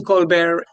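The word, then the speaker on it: Colbert: He doesn't like the T pronounced.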